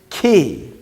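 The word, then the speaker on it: כִּי: yo hirak yo and how does the hero kyote sound e so how do we pronounce first word t okay so the first word is key key and the word key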